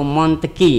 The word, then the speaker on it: Montesquieu: Jadi berdasarkan bahasa asalnya, kalau tulisannya Montesquieu, tapi sebenarnya membacanya itu Monteki ya.